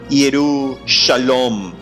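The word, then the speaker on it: ירושלים: Y este era el nombre antiguo de Jerusalén, que en hebreo antiguo se pronunciaba Yerushalom, que significa la ciudad de paz.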